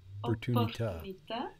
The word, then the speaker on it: opportunità: And I think you tried to pronounce, I think you did pronounce the double P there, no? opportunità. So we have a double P there, even though that doesn't make a lot of difference to us in English, it's important for Italian.